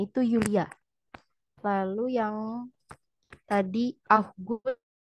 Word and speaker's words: Julia: Kesalahan sedikit pada Aussprache Julia, dibacanya itu Yulia.